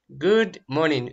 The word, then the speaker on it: Good morning: Good morning. Видите, вот это O читается, двойная O читается как U. Good morning. А R не читается.